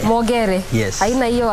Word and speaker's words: Mogere: Niyo pronounce ya mwisho vizuri? Mogere. Mogere.